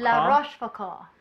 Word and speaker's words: La Rochefoucauld: And Francois Rochefoucauld. I think that's how you say it. Rochefoucauld. Oh, Foucault? La Rochefoucauld.